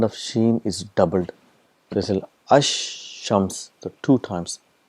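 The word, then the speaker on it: الشمس: silent and the sound of sheen is doubled ash shams the two times it's a compensation and there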